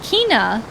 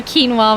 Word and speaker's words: Quina: Sweet Kina. I called her quinoa when I was a kid. That's so cute. Yeah, that's like how I pictured the pronunciation of like Kina in my head.